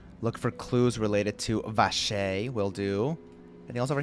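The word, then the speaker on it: Wriothesley: how to say it it's vashay right not vacar oh my God we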